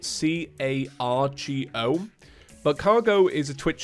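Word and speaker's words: Kagoh: I think when you hear it, you probably assume it's spelled C-A-R-G-O.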